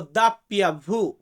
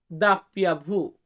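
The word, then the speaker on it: doppia vu: যেটাকে আমরা বলি ডব্লিউ ডব্লিউ এটাকে আমরা বলবো দাপ্পিয়া ভু দাপ্পিয়া ভু অনেক ক্ষেত্রে এখানে মেল ফিমেলের ব্যাপার আছে তো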